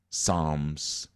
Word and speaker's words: Psalms: just like salute, salat, Psalms, where the P is silent, so it's really representing hidden wisdom.